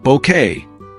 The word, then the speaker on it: Bouquet: Her delivery of lines like, "It's pronounced Bouquet," became part of British pop culture history.